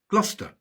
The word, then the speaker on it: Gloucester: There are no absolute rules in English place names, but Cester is usually shortened to Ster, Bicester, Gloucester, and Shire is usually